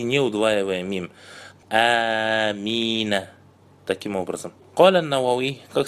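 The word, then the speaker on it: آمين: То есть самое правильное, самое известное и самый лучший вид произношения «Амин» у ученых – это удлиняя первый звук и не удваивая мим.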